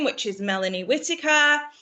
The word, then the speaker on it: Whittaker: I like the way she says WHITTAKER. But that's the difference between England and America. How would you say it? Well, how would you say it? It's WH, not H.